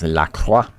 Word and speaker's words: LaCroix: It's LaCroix. You gotta say it like that. You gotta roll the R. LaCroix. Can't say it LaCroix.